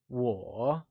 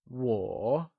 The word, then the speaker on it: 我: I, or me, translates to 我, and it is pronounced using a falling, rising tone. Let's try and say 我. Once again, it is said with a falling, rising tone, also known as the third tone, like 我.